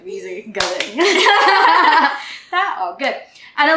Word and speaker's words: tao: So if you read this word in English, it would be tao, right? You blend vowels in English. But in Tagalog, if you see two vowels right beside each other, you pronounce them separately, right?